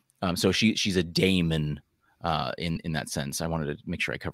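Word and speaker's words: daemon: a boogeyman a knight haunting demon Damon I should say which preyed on children Damon by the way um d-a-e-m-o-n uh I'm pretty sure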